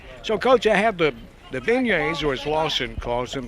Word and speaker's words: beignets: Lawson Mann calls them bignets. They're beignets, way it's pronounced.